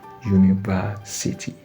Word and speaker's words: university: You will not say an university because the U that start the word university is being pronounced as U. The sound is U. So it means the sound of the first letter in that word university is a consonant sound.